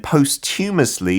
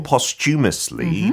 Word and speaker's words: posthumously: And then posthumously or posthumously 두 가지 발음하는 사람들 많이 봤는데 it just means after you die.